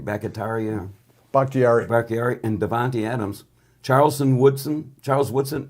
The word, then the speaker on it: Bakhtiari: David, how do you pronounce his name? Bakhtiari, and Devontae Adams, Charles Woodson, and Julius Peppers.